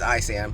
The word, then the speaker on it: ISAM: tour uh first off what's I Sam tell people why it's a silent s secondly what are the